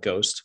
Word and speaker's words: GHST: so now ghost token ghst we call it ghost but for those listening it's it's spelled ghst token um it's a very